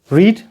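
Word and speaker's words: read: रीड, कुछ दिया पढ़ने के लिए. रीड का थर्ड फॉर्म का स्पेलिंग सेम रहता है, उसका जो प्रोनाउंसिएशन बदल जाता है. या रीड का थर्ड फॉर्म होता है रेड.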